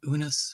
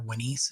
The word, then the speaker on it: Unas: And I think the earliest one is the pyramid of, or the causeway of Unas, or Wanis as it would have been pronounced.